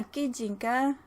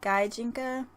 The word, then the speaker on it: Gijinka: Yeah, Gijinka in actual Japanese. I think here in America we pronounce it Gaijinka.